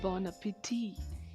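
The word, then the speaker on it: bon appétit: इसी तरह एक और फ्रेंच फ्रेज हम यूज़ करते हैं बॉन एपेटी। बॉन एपेटी का मतलब होता है एन्जॉय योर मील, यहाँ पर लास्ट टी साइलेंट है।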